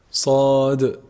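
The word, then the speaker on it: ص: The sad letter is a heavy letter, and it's pronounced actually from the tip of the tongue when it relies or like lies on the what? On the bottom incisors. And that's how the safir attribute comes out.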